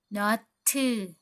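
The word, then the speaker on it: 너트: สลัก เกลียว นะ คะ ภาษา เกาหลี ก็ คือ Not to Not to ก็ คือ นอต หรือ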